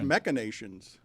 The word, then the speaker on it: machinations: I thought it was machinations. Never heard of it. That's nuts. You don't Wow. know. I always thought it was MASH with an SH sound, even though it's spelled CH.